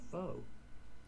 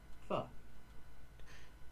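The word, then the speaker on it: pho: This food is not called foe. It's called fu.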